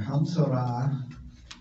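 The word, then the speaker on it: המצרע: Hamtzorah is how you say it, of a Metzorah.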